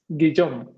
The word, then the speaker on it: Guillaume: I think that now that we are in this live stream, at least me, you, and I don't pronounce his name. Guillaume. What? Guillaume.